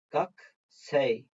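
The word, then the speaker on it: 学生: bu şekilde mesela gaks gakusei diye yazılıyor ama gak sey yani o k kesiliyor Eee ku şeklinde telaffuz edilmiyor gak diye telaffuz ediliyor Eee aynı şekilde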